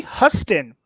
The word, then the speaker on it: Huston: What comic book movie features Danny Huston playing the leader of a group of vampires? It's Huston or Houston. I think it actually is pronounced like the great city in my state. It is Houston.